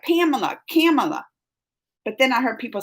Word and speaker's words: Kamala: And I keep saying Camilla, which I know Camilla's wrong because there ain't illa at the end. But I think it's Kamala. I gotta say it right. Kamala.